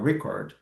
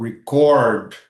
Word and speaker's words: record: falando de substantivos, nouns, we put the stressed word in the first syllable. Ou seja, record é a gravação em si, não o ato de gravar. Então, ao invés de pronunciar record, ele deveria ter pronunciado record.